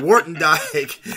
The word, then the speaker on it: Woertendyke: word you died we'll never forget it though Wharton Dyke all right thanks for coming on so much